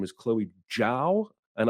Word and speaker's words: Zhao: director's name is chloe zhao and i've been saying zhao like an ignorant american and i saw a